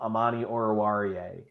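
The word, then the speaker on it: Amani Oruwariye: had a guy um Amani orawarie and it was fantastic watching people stumble over that name and it's like it's pronounced exactly how it's spelled it's just not a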